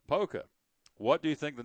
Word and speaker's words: Poca: There's a school in West Virginia named POCA, which you would pronounce it. POCA? Yeah. Polka.